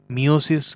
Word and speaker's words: meiosis: मियोसिस, कोई बोलते हैं मेयोसिस, कोई बोलते हैं मायोसिस। तो तीनों टर्म अपने आप में ठीक ही हैं। अलग अलग सेक्शन रीजन में अलग अलग ये यूज़ किया जाता है प्रोनाउंसिएशन। तो मैं मायोसिस बोलता हूँ, आप चाहे तो मियोसिस भी बोल सकते हैं।